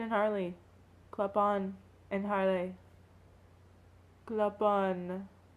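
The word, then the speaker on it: Clopin: Clopon. That's how you pronounce his name, right? Yeah, French.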